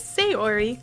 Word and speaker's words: Sayori: According to the YouTube video I just watched, it is Sayori, so we'll go with that. And if it's wrong, blame YouTube, not me. Oh, so this is Sayori.